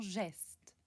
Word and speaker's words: Geste: Dans les mots luxembourgeois qui sont empruntés au français, le G est prononcé comme j dans geste.